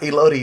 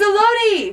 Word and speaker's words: elote: By the way, we like Elodie now. It's elote. Elote.